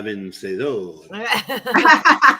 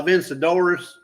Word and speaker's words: Vencedora: Yes, And I you love say it right. Vencedora. Most people will say La Vencedoras, La Yes. Vencedoras.